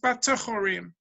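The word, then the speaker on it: בטחורים: It's written be'afolim, but it's pronounced batechorim.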